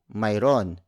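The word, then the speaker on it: Mayro'n: You can contract that word into mayron. That's spelled as Mayro apostrophe N.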